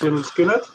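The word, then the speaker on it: Lynyrd Skynyrd: a little bit obvious lard skinnard pronounced lard skinnard interesting and you know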